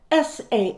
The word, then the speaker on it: Samhain: which originated with the ancient celtic festival of samhain spelled s-a-m-h-a-i-n but pronounced samhain this is when people would light